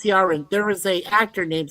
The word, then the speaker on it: Ciaran: It's pronounced Ciaran. There was a actor named Ciaran Hines who recently passed away.